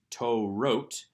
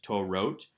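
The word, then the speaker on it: תורות: be written for instance toe wrote and yet we also have defective spellings such as torot pronounced the same translated the same although the second vav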